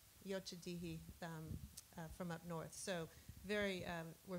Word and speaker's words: Yocha Dehe: We had San Manuel Band of Mission Indians as well as, Don, help me with the pronunciation, Yochadihi from up north.